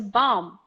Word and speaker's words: bomb: didn't know this that when I say words like dumb climb Nam bomb do we don't say the beat so you don't say that there was a bomb booked in London we say there was a bomb and you stop there there is a be